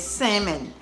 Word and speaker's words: salmon: saying it wrong it's salmon i'm probably still saying it wrong but you know the l is silent that's what she told